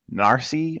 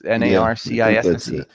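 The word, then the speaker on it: Narcisse: looks like in Evan Narsee it's NERC I see yeah so and on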